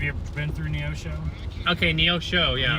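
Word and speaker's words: Neosho: Neoso. Yeah. Neoso. That's how you pronounce it.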